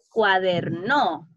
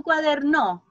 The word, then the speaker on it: cuaderno: La palabra cuadernó. ¿Cuál sería la sílaba tónica correcta de la palabra cuadernó? No. Cuando yo les digo, ya chicos, saquen su cuaderno.